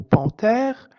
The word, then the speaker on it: panthère: H exemple une panthère dans le mot panthère le H ne se prononce pas donc le H ému